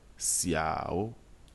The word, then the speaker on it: xiao: mot le deuxième procès xiao ici la lettre is constitue l'initiale dans la langue chinoise l'initiale is un mix entre la prononciation que nous faisons des lettres ch et s en français nous allons donc les